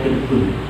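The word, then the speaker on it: تِرْب: Tapi ini ada lafaz yang seperti tirbun. Sebenarnya ya tarbun ya, tarbun atrobun. Tapi ini bacanya tirbun.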